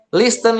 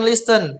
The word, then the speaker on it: listen: Listen, listen. Oh, don't say listen, but you have to say listen without tea.